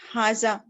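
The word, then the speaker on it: هذا: Haza is pronounced Haza, but it is written without the first alif.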